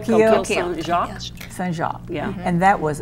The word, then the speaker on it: Coquille Saint-Jacques: and the coquille Saint-Jean. And the what? I'm not going to pronounce it right. Coquille Saint-Jacques.